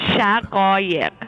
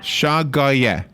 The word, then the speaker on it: Shaghayegh: I'll do the syllable version of it. Got it. Shaghayegh. Shaghayegh.